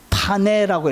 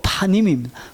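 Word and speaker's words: פָּנִים: 파님이라는 파네라고 읽는데 원래는 명사로 파님입니다.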